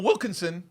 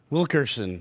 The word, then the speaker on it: Wilkinson: I said it right, too. You see that? You didn't Put have the the N in R. there. He didn't What? put the R in. The N. Wilkerson. N before R.